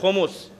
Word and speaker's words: خمس: کہتے ہیں، جیسے ہم خمس کہتے ہیں۔ جب آپ قرآن کی زبان میں قرآن کی کائنات سے جب تلفظ دیکھیے گا تو وہ ہے خمس، خے پر بھی پیش ہے، میم پر بھی پیش